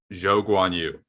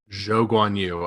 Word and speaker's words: Zhou Guanyu: anymore so 15th uh it's pronounced he prefers to go by zhou guanyu jo gwanyu okay yoguan you hold